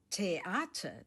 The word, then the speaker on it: Theater: theater Das Theater Theater, the stress is on the second syllable.